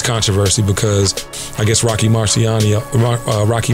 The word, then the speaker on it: Marciano: up now this controversy because I guess Rocky Marciano Rocky Marciano I'm gonna say it properly held the record